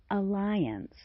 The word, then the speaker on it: alliance: The vowel of the final syllable is reduced greatly to the point where it sounds simply like ants as in defiance, reliance, appearance, assistance, sense, fence, science, silence, and violence.